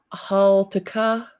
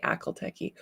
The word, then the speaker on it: Haltica: Haltica is how you say it. My brain forever wants to say Akalteki.